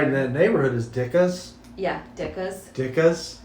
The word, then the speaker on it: Ditka: And you know what was right in that neighborhood is Dicka's. Yeah, Dicka's. Dicka's. Mike Dicka's. That's how you pronounce it. It's not Ditka. It's Dicka.